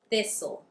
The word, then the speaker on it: thistle: If you see a word that ends in stle, it would be right to assume that the T is silent.